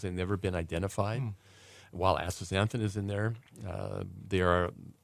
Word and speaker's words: astaxanthin: You said there's other types of astaxanthin here. Did I pronounce that right? Astaxanthin? Astaxanthin.